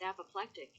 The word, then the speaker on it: apoplectic: think sort of Presumed how do you pronounce apocalyptic that's pronounced apoplectic the Google assistant said let's